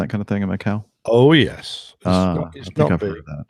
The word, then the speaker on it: Macau: gear actually nose wheels while landing attempt at Macau mchao how do you pronounce that Macau probably Macau that's right Jeff